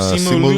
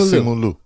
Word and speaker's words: Simu Liu: Simu Simu Liu. Liu. Simu Liu. Simu Liu.